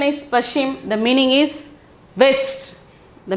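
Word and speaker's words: पश्चिम: Then the next one, Pashchim. Okay, Pashchim, Pashchim. Pronunciation is Pashchim.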